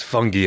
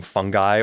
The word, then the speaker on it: fungi: want to clarify that I'm saying fungi or fungi interchangeably I think both pronunciations are fine yeah but I'm saying